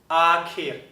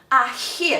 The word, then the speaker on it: akhir: tamasya, Akhir.